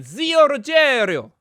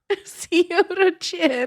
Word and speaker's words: Zio Ruggero: Say it properly. Zio Ruggero. Zio Ruggero.